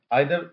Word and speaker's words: either: করছি তখন কিন্তু আইদার এবার যখন আমেরিকান ইংলিশ হচ্ছে তখন কিন্তু সেটা ইদার।